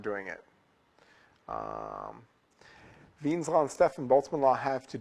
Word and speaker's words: Wien: Something that sounds like Wien's law, but it's sort of German, so it's pronounced Wien's law.